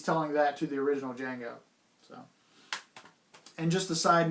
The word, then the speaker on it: Django: actually tells him that the d is silent he's telling that to the original django so and just a